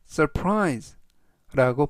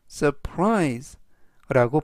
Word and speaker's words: surprise: 둥근 형태다라는 뜻이 되겠습니다 이번 단어는 surprise surprise surprise라고 발음하시면 되겠고요 이때 강세는 끝부분에 있는 알파벳 아이의 강세가 있습니다 그래서 surprise라고 발음하시면 좋겠고요 품사는 동사 뜻은 놀라게